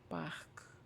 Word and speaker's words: Bach: A hard one is like Buch, which means book, or well, or Bach, Bach, Bach, which is like brook, like the name Brook, but in German, Bach, Bach.